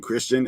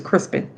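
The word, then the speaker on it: Criston: talking I try to I'm about to call him Christian and I'm like they won't know who I'm talking about I like who I would have thought you got the name wrong again I'm like David his name is crisen um he got he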